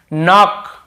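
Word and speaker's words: know: के को नहीं पढ़ेंगे नो इसे नाउ नहीं पढ़ेंगे ठीक है नो नो भी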